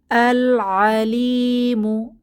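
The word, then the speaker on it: العليم: অতি দয়া আর রহিমু এরপর আল আলিমু এখানে কমারি হরফ এসেছে তাই লামের উচ্চারণ হবে লাম সুকুন উচ্চারিত হবে আল আলিমু অর্থ মহাজ্ঞানী পরবর্তীটাও কমারি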